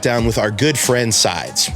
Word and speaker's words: SEIDS: with our good friend sides no it's not pronounced seeds we found her posting